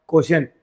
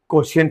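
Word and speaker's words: quotient: Answer कहलाता है क्या, क्वोशिएंट। क्वोशिएंट ही पढ़ना है ना, QTOINT नहीं पढ़ देना।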